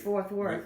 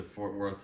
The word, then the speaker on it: Fort Worth: to fourth wort um this guy's best friend can't pronounce fort worth he's just fourth world we drove to fort worth to slim richie's uh